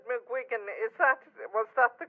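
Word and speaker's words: McGuigan: definitely our side the country and I said mcgan is that was that the correct pronunciation I'm m is yeah it's an order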